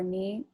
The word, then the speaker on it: knee: Um, how I remember it, K for knee, but you don't even pronounce the K in knee, so that's useless.